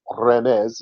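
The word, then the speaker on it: רמז: God so it's a RZ obviously a hinting back to remes is the right way to say Hebrew word and it it means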